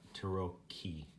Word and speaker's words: tarocchi: were all just discussing how to pronounce the c CH i in italian apparently we were all pronouncing it wrong so it's Turo key that chain so that